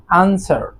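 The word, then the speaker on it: answer: দেন রয়েছে আনসার, আনসার অর্থাৎ উত্তর দেয়া, উত্তর। সো এখানেও যে ডাব্লিউ রয়েছে, ডাব্লিউ এর উচ্চারণ কিন্তু হচ্ছে না।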